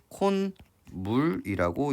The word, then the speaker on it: 콧물: 얘를 어떻게 적고요? 콧물로 적고요. 얘를 발음하면 콘물이라고 이야기를 하게 됩니다.